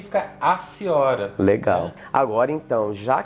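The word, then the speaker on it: Hatiora: Então, toda palavra que começar com H, né, e depois tiver uma vogal, a gente ignora esse H. Isso. Então, por exemplo, o gênero que eu pronunciava como raciora tem que ser aciora.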